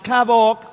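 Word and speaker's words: כבוד: Así que, entrando en materia, la palabra honra o el verbo honrar en el hebreo se pronuncia kabok.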